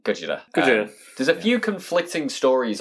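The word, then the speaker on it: ゴジラ: yeah and godzilla is it just sounds like gojira there's a few conflicting stories on how the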